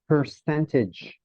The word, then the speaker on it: percentage: this one here is percentage percentage yeah percentage uh this one here wouldn't be presented it would be just 62 percent first yeah so make sure to um stress the second syllable person 62 percent right